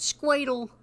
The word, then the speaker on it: SQ8L: Sometimes I pronounce it Squadle, because that's looks like that, doesn't it?